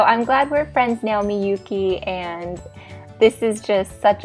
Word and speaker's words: Miyuki: And she emailed me back, it's M-E hyphen Y-O-U hyphen K-E-Y, Miyuki. Okay, perfect, I get it. Thank you so much. So I'm glad we're friends now, Miyuki, and this is just